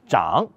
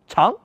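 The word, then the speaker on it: 长: signifie département ou ministère Chan signifie chef ou responsable oui je sais normalement ce caractère se prononce Chan signifiant long longueur poujan désigne le chef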